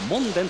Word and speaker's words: モンデン: 7 番の田村 3 番のモンデンと読みますがセンター体格で